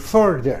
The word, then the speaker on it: further: Nah, sedangkan kalau far ini menjadi further, hati-hati ya, bacanya jangan fur ya, seperti fur bulu itu ya.